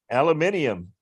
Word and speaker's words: aluminium: After all, aluminum gets an extra syllable, doesn't it? Aluminium.